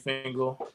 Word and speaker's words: Fingal: for everybody i appreciate it yeah i'm fangle um i go by yeah because